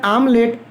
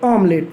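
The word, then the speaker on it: omelette: आप लोग कहते हैं आमलेट, वो ठीक है हिंदी में, लेकिन जब आप इंग्लिश में इसको प्रोनाउंस करते हैं तो आप इसको बोलना चाहिए आपको ऑमलेट। जी हाँ दोस्तों, तो ऑमलेट में ओ का साउंड आ रहा है, इसलिए इसको आगे N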